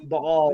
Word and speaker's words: Baal: Baal. Yeah. That's the correct way to say that.